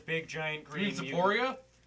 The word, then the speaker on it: Sapporo: I need to go to Sapporo. Sapporo? You heard me right. I know that there's big giant You mean green Sapporia? Sapporo. Oh, did I say it wrong? You did. Yeah, Sapporia.